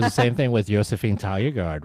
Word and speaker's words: Taljegaard: It was the same thing with Josephine Taljegaard, right? Like she was like, oh yeah, Josephine. Yeah, she was also like, well, you the way I would pronounce it is actually Toyagord, Toyagord, to that effect, or like Saulius Ambrulevicius, right?